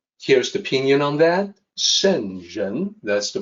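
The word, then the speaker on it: 聖人: further analysis sentence here's the opinion on that senjen that's the pronunciation so let me talk about this for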